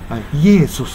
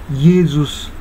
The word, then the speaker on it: Iesus: でね、これ、イエーズスという、イエーソスなんですね、ほんまは。